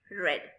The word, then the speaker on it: read: spelling is the same ready but when we pronounce that it will be rad red ring one will ring rise rose will rise